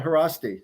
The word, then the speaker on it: Haraszti: Yeah, Haraszti. That's perfect. Haraszti.